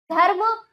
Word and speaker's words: धर्म: ठीक है, जैसे देखिए धर्म, धर्म और आशीर्वाद। धर्म, देखो बच्चों यहाँ पर रा का उच्चारण ध और माँ के बीच में हो रहा है परंतु लगता अगले वर्ण पर ही है।